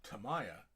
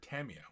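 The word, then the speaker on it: Tamiya: coat to arms and Tamaya or Tamia whichever way you want to pronounce it they don't actually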